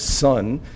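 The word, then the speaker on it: 선: The Korean pronunciation of that is sun.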